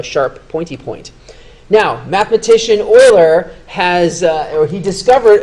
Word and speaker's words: Euler: video is oil's formula his name is pronounced Oiler he's a mathematician and